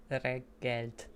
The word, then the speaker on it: jó reggelt: Jó reggelt. Jó Oh, reggelt. God. Reggelt? Reggelt. Reggelt. The double letters. Reggelt. Yeah. It's kind of like Learn double reggae. words. Reggelt.